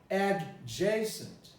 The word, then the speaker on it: adjacent: the da eliminates it so instead of saying adjacent because it's spelled there i don't see add jason i